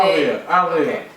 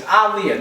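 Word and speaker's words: Aaliyah: whole Aliyah situation Al Aliah alah like yo everybody it slides off your mouth like that that girl name wrong it's aliia not Alia they Revisited the aliia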